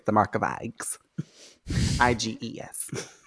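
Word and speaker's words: Eyghon: Iges. Even though his name is spelled with an E.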